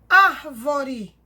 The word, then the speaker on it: árvore: Próxima palavra, árvore. Sílaba tônica, ar.